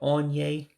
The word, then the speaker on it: onye: So again, you got that On-yae, meaning the one who does something.